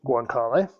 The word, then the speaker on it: guanciale: Over time, Italians swapped the bacon for, how do you pronounce it? Guanciale? Guanciale.